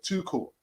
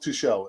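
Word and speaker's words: Tuchel: It's pronounced too cool. Yeah, too cool and not too shell. He's German, not French.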